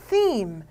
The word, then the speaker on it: theme: theme. 요 th 발음 역시 무성음이에요. theme.